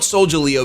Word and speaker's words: Solgaleo: Maybe, I think it's Sol, like solar, and then Galeo, Solgaleo. But you know what?